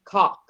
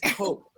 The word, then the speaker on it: coke: Please don't say cock. It's coke.